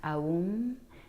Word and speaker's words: Om: Om, it's actually pronounced Aum, A-U-M, A-U-M. So it's Aum more so, and that's the original sound of the universe.